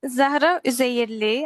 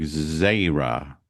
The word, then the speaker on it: Zahi: So it's Zahi actually, but I don't really blame you for the pronunciation because it's a little bit hard, you know. So more like Zra Zra.